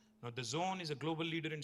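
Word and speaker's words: DAZN: It is pronounced The Zone, but it's spelled D-A-Z-N. Now, The Zone is a global leader in sports live streaming.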